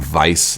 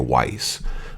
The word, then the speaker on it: Weiss: general vice is he's I'm saying vice like like I think is the proper pronunciation but I know a lot of people say a weiss but if you drink heaven that's when you know pronounce with a V but it has the W there so I think it's just like you know you know general vice like slices his Hefeweizen so